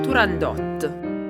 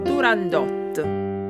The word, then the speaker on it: Turandot: La pronuncia del nome della protagonista, nonché titolo dell'opera, è materia controversa, ma la pronuncia più corretta sembra essere Turandot.